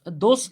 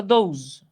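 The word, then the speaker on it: these: দোষ না কিন্তু, দোষ বা বন্ধু বলা যাবে না, এটার উচ্চারণ হলো দৌজ, দৌজ।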